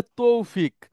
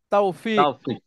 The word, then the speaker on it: তাওফিক: অনেকে বলে তৌফিক। তৌফিক ঠিক না এটা তাওফিক শুদ্ধ উচ্চারণ হচ্ছে তাওফিক বিতফিক ইনশাআল্লাহ ইনশাআল্লাহ